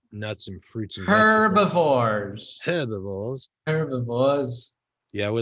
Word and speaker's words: herbivores: Herbivores. Herbivores. Herbivores. Yeah, we like Bart to know, so we're pronouncing the H even though we're Americans.